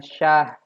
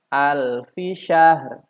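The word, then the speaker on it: شهر: Dibacanya hanya syah. Al-fi-syah. Ra-nya tidak terdengar. Seharusnya al-fi-syahr. Al-fi-syahr.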